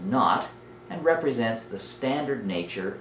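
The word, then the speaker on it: naught: kn that fine looking superscript little zero is pronounced not and represents the standard nature of this Delta H so Delta H knot is the standard enthalpy change for a reaction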